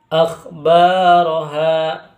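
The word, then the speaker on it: أَخْبَارَهَا: Akhbaraha. Akhbar itu bacaan mad tabi'i karena alif sukun didahului harokat fathah yang mana panjangnya dua harokat.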